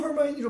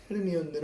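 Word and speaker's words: Hermione: 영국에서도 헐마이니로 발음을 하는 걸로 알고 있거든요. 헤르미온느는 아니고.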